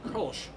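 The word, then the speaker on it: Kölsch: uh it's k-o-l-s-c-h and the O has two dots over which in German we call them umlaut and it makes the o sound kind of like an ER that's having one now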